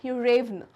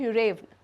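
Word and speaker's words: Yuryevna: तो इनके प्रोनाउंसिएशंस जो होते हैं वो इंग्लिश प्रोनाउंसिएशन से काफ़ी अलग होते हैं। So this is known as यूरेवना, alright, यूरेवना।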